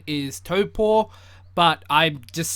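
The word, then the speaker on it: Taupō: in the video i will keep saying like taupo even though the correct pronunciation is topo but i'm just saying the pakiha way because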